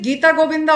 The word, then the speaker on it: Gita Govinda: git Govinda was jaidev we can pronounce it Gita Govinda also because it's a Sanskrit terminology and this is the